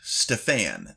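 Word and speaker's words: Stefan: He introduced himself as Stfan. That's s T E F A N emphasis on the second syllable.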